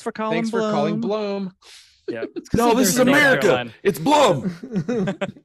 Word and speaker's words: Blum: by the way it's it's Bloom not Blum for those people right